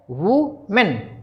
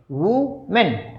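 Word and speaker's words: women: वुमेन, वुमेन। अब इसका जो बहुवचन है वुमेन का बहुवचन है, उसको क्या बोलते हैं? वीमिन। क्या बोलेंगे? वीमिन।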